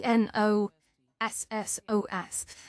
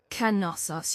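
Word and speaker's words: Knossos: That's a K N O S O S. And you don't pronounce it pronounce it nosos. It is actually Canos. You pronounce the K. It's not silent like normally.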